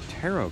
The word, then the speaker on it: tarot: Ooh, and they have tarot cards. The T at the end of the word tarot is silent, so don't say tarot cards, because you sound like a goober.